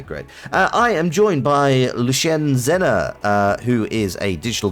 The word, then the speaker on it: Lushen: Well, it's a lot easier to pronounce it Lushen. Lushen, okay.